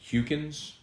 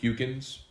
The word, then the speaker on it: Huckins: Huckins pronounced Hukins, so it's a long U. Hukins.